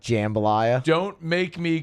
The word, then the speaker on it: jambalaya: So I would say jambalaya. That's correct, by the way. But it is JAM, so phonetically it would be jambalaya.